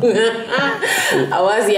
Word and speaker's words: Awazi: How is it pronounced again? AWAZI Angbalaga.